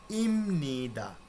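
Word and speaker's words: 입니다: তো এটার উচ্চারণ কি হচ্ছে ইপনিদা, বানান কিন্তু ইপনিদা, কিন্তু এই রুলসের কারণে এর উচ্চারণ হবে ইমনিদা।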